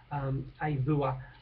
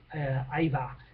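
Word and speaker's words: Auva: And one of their promising young kids, Avua, I pronounced it incorrectly, A-U-V-A, we'll call him, Ava.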